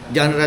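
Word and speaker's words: genre: Kasi bawat genra may ano eh o yung gen j e n r e genra lang ang pronunciation tapos digging out the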